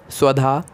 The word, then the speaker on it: स्वधा: बोलकर बता देते हैं स्वधा स्वधा स्वधा स्वधा स्वधा अब इसमें आधा एस है वह है और हमें ए की मात्रा है ये पूरा नाम का उच्चारण है स्वाद तो इस नाम का